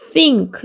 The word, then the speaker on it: think: 그다음에 얘는 th가 번데기 발음이에요. 아니윈니 사이에 허를 내미고 말람 나가는 소리를 하고요. 그 얘는 응크 소리기 때문에 think 이렇게 소리 나고요.